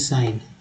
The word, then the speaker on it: sign: जैसे कि यहाँ देखिए SIGN, इसमें जी साइलेंट है, इसको बोलते हैं साइन, क्या बोलते हैं, साइन, SIGN।